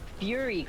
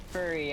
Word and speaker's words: fury: Um in this PTRPG that I played called Draw Steel, there's a fury class and I kept pronouncing it wrong and saying furry and they kept making fun of me.